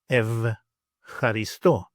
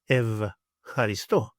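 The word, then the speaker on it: ευχαριστώ: Then we have E and I, and together they make the sound ev, ev, or F sometimes, as in the Greek word evcharisto, evcharisto, evcharisto.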